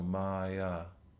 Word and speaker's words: maya: A lot of people have this name maya and Sanskrit is pronounced with two long a. So maya literally maya means that which is not.